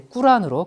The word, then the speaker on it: 꾸란: 또 그들의 경전이 코란 있잖아요. 그것도 요즘은 이제 꾸란으로 그들의 이제 이 발음대로 이렇게 부르고 있습니다.